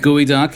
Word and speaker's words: geoduck: I mean, it's spelled the geoduck. They expect us to believe that it's pronounced the gooey duck, which is nonsense.